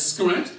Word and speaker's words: Skrent: One of those I mentioned earlier in the pronunciation of strength as Skrent, because the S-T-R would be substituted with an S-K-R.